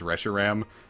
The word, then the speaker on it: Reshiram: know I am wrong about cuz the official pronunciation is Reshiram but I will never prance it like that